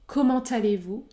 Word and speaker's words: comment allez-vous: qui sont comment allez-vous dans ce cas je prononce le T comment allez-vous et quand est-ce que